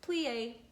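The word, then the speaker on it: plié: like that we plie you say like this plie we jute and we do many praise bravo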